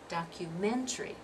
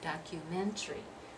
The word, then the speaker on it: documentary: that way we say documentary documentary but are we dropping we're dropping that syllable there at the end that fourth syllable now here you have